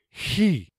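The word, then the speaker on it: chi: so it is pronounced he he so like the word he with just a lot of extra air coming out at the beginning this Cactus looking letter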